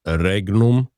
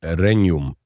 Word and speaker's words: regnum: So instead of reignum that would be classical Latin reignum in ecclesiastical Latin it's reum tomb reum. So almost like a like an onion type sound like when you're saying the word onion onion.